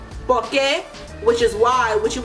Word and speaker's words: por que: So that's how you can use porque, which is separate por and que, but it's still pronounced porque like the other 2 porques.